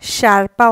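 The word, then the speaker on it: sciarpa: দিয়ে এখন বুঝিয়ে দিব এস এ যার উচ্চারণ সিপা শারপা অর্থ মাপলার পরেরটা এস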